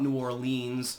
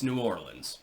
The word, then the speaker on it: New Orleans: Story by the way it's not nowlands it's not New Orleans although technically that would be more of the frankophone uh pronunciation it's New Orleans just call it New Orleans stop being fancy and